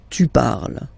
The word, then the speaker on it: parles: So you've got the two first forms, you pronounce them the same way. You write them differently, of course, because you've got here, and then you've got and s, okay, but then phonetically they are the same.